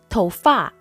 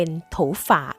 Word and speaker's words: 头发: คำ นี้ ก่อน ค่ะ จะ สังเกต ว่า คำ ว่า ฟา ไม่ มี เสียง วรรณยุกต์ กำกับ เพราะ ว่า เป็น เสียง เบา ค่ะ ดัง นั้น จึง ออก เสียง ได้ หลาย แบบ ไม่ ว่า จะ เป็น ธง ฟ้า โถ ฝาก โถ่ว ฟ่า หรือ บาง ครั้ง เรา จะ ได้ ยิน เป็น ถู ฝ่า ก็ มี นะ คะ วัด เสียง